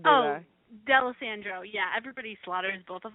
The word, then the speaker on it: Dalessandro: I didn't Slaughter your last name did I delis Sandro yeah everybody Slaughters both of them so I'm